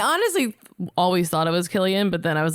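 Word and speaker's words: Cillian: Silian Murphy. That what was that? Killian Murphy.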